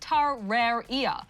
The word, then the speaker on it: Terraria: Well, it seems most dictionaries say that the word is pronounced tar-rare-ia, as in the plural for terrarium.